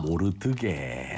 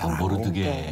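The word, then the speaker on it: 모르드개: 제가 좀 사투리가 섞여가지고 모르디게 이렇게 발음하는데 원래는 모르드게. 모르드게.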